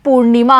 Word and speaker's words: पूर्णिमा: जैसे यहाँ पर न पे लगा हुआ है रेफ, तो न से पहले हम रे बोलेंगे यानी पूर्णिमा हम बोलेंगे।